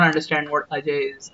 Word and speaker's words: Ajay: For them, JAY is pronounced J. So A and J is AJ. Yeah. It's a phonetic thing. They will not understand what Ajay is.